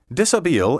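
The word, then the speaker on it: dishabille: clothes or lounging attire disabil comes from a french verb meaning to undress which explains why it has all those silent letters disabil entered english in the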